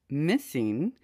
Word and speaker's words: MSSNG: with autism today need answers the mssng project pronounced missing is the search for those answers and we're